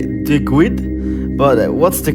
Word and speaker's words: Duguid: and mostly people say Duguid, but what's the correct pronunciation of your name? Well, in Scotland it's pronounced Duguid, and in England it's pronounced Duguid, but I get called a lot worse, so take your pick.